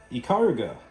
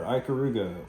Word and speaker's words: Ikaruga: We'll do one final game that I think is worth mentioning, and that is ikaruga, or ikaruga, however you want to pronounce it. I've heard it both ways.